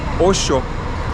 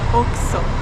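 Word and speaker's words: Oxxo: Yes, another thing was very interesting for us is these like convenience stores that are called Osho. We had seen them only in Mexico before. Actually, you pronounce Oxo.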